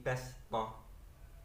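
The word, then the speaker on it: بسطة: Bastota termasuk bacaan gharib. Bacanya boleh dibaca sin, boleh dibaca shad menjadi basta.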